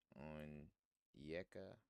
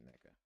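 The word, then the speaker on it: Nneka: On Yeka. Oh, fuck. I might be pronouncing her name wrong. Neka. There we go. I said on Neka. I'm tripping. It's just Neka.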